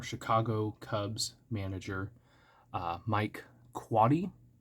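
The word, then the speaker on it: Quade: Cubs manager uh Mike quady it's spelled like Quaid but from what I saw it's not pronounced that way I think he coached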